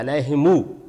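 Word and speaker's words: عليهم: میں۔ اچھا، اسی طرح جو علیہم ہے تو علیہم اس کو ملا دیتے ہیں، علیہمو کر کے پڑھ دیتے ہیں، تو یہ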